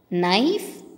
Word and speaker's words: knife: letter வந்து silent okay children க்னோ க்னாக் க்னாப் அப்படின்னு சொல்லக்கூடாது இதை ப்ரொனவுன்ஸ் பண்ணுறது தப்பு அப்படி ஸோ இந்த வேர்ட்ஸில் இருக்கிற கே வந்து சைலண்ட் லெட்டர் இப்போ சொல்லாமா நோ knock knob knife knot knee knit knee இப்படி தான் இதை ப்ரொனவுன்ஸ் பண்ணும் ஓகேவா இப்போ கே மட்டும் கிடையாது